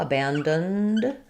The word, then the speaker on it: abandoned: The A in the stressed syllable is the a, like in bad, and then we have this letter O also is a schwa, abandoned. When we add ed at the end to make something past tense, if we're adding it to a voice sound, we just make the D sound, abandoned. So not abandoned, but just abandoned.